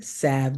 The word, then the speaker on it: salve: And her mom was the salve queen, Salve, salve, they call it. Nobody got time for the L, salve. No, salve. So what happened, and people probably would say, oh, well, the L is silent, because that's how people are.